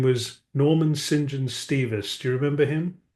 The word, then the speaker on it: St John: And that's where we learned how to pronounce what's spelled St. John as St. John.